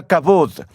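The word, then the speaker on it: כבוד: glorioso y terrible es la palabra hebrea cabou a veces se pronuncia cabod ustedes escucharon la historia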